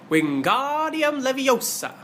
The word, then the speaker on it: Wingardium Leviosa: "You're saying it wrong!" Harry heard Hermione snap. "It's wingardium leviosa. Make the gar nice and long.